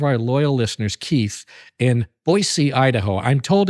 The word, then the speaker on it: Boise: have gotten it right I knew a guy from boisey Once who was like no no no it's not Boise and I I might still be saying it wrong but I know it's not Boise I know that much anyway out there in Idaho